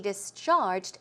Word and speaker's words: discharged: Another one, the doctor cleared me to be discharged today. Cleared me, meaning, okay, you can go home. He said I was okay to go home, and discharged. The stress should go on the second syllable. Discharged.